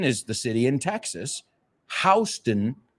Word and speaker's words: Houston: Houston is the name of the street in New York City, aunque se escriba igual. Me recuerda a otra. The street in Beverly Hills is called Rodeo Drive. But if you go to see cowboys, you're going to a rodeo. Same word, different pronunciation, right?